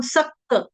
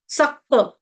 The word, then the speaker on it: सक्त: सक्त चेतसाम सक्त सख्त यहां पे गलती से ना कई बारी क के बदले ख का उच्चारण आ जाता है कि वो बड़ा सख्त है। है ना? सख्त नहीं है। सख्त क सख्त आसक्त वाला आधा क और पूर्णत।